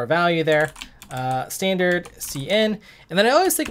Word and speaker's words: cin: the name comes from I usually would pronounce it as C in uh some people might say sin but I I think